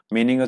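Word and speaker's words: 妈: যেমন এখানে মা, মা ফার্স্ট টোন আছে, তাহলে মা মানে হচ্ছে মাদার, মা।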